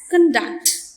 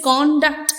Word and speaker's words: conduct: And if you give the stress on the second part, it becomes a verb conduct, which means the act of passing, right?